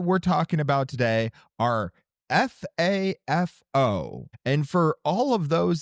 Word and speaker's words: FAFO: So, the topics that we're talking about today are F A FO. And for all of those that don't know what F AFO is, it's F around and find out. Is it ever just pronounced like fafo?